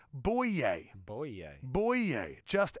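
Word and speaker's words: Bouye: very funny show AJ buiiets I am it's pronounced boo yay boy yeah boy yay just ask him okay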